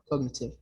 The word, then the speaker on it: cognitive: G is silent or what? No, in this one, no. Cognitive, no. Cognitive or cognitive? Cognitive. Yeah, this one, the G is not silent.